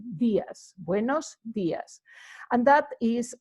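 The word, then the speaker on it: días: on that particular words we would say when ice Diaz not Diaz but Diaz buenos Diaz and that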